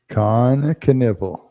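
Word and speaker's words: Kon Knueppel: And he said, "Con Knipple," just like the body part. Con Knipple.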